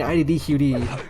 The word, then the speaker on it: iddqd: next couple hours and saying ID dqd if you ever name yourself something don't make it five syllables cuz it's really annoying